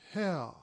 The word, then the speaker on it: Hare: His name is Hare." He pronounced it so as to rhyme with mayor.